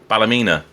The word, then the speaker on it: Ballymena: Malcolm Beattie of MB Motors in Northern Ireland, Ballymena. Is that the correct way of pronouncing it?